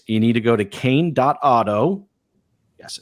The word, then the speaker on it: Kain: 11th all right you need to go to cane. auto yes I said it right cane.